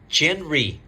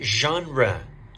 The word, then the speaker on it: genre: how do you say this word don't say genre say genre genre what's your favorite movie genre about this one